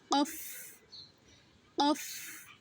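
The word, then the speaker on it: قاف: অফ অফ। অফের উচ্চারণটা কণ্ঠনালীর ভেতর থেকে আওয়াজ সহিত বাতাস বের করে উচ্চারণ করতে হবে।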